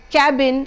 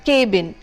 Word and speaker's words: cabin: The first one is cabin, the correct pronunciation being cabin and not cabin.